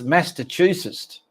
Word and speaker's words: Massachusetts: Hey, Google, how do you pronounce Massachusetts? That's pronounced Massachusetts.